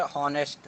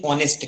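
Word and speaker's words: honest: राम and Shyam are हॉनेस्ट। हॉनेस्ट, pronunciation सही करो, हॉनेस्ट नहीं ऑनेस्ट कहते हैं।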